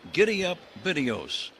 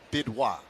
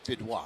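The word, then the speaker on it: Bidois: Brandon Giddy ups.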